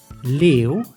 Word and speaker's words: leeuw: These specific combinations are pronounced like eeuw and eeuw, like in leeuw, which means lion, and nieuw, which means new.